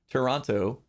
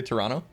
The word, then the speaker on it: Toronto: over the fact that everyone pronounced toronto with two t's instead of one that second t stuck out like a sore thumb toronto toronto dude most people just say toronto i guess i usually